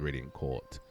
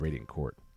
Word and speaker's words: Radiant Court: I don't know why I'm adding that accent on the end. Like it's No one says Radiant Court. It's just Radiant Court.